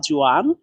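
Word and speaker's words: 砖: জোয়ান এই শব্দটিতে চাইনিজের 1 number tone ব্যবহার করা হয়েছে। যেখানে 1 নাম্বার টোন ব্যবহার করা থাকবে সেখানে একটু টেনে লম্বাভাবে বলতে হয়, জোয়ান, জোয়ান।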